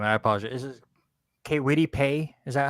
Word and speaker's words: Paye: I do agree with Robert Taylor, but I believe it's Paye is how you say his last name.